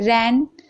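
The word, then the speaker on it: reign: रैन, यहाँ पर भी आप देख रहे हैं जी है तो जी साइलेंट है।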